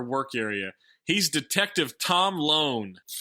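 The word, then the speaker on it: Lone: is saying the words his name rhymes with like cone phone and Bone hell this is my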